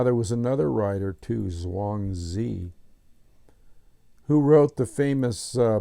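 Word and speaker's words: Zhuangzi: philosophical trappings of dosm so Zang Z spelled z h u a n g z Zang Z or it could be hang Z I'm not an authority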